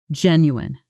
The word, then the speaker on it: genuine: Pronunciation. Genuin. Stress on the first syllable.